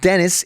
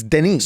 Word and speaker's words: Denis: I pronounce that right it's not Dennis it's Denise so I went into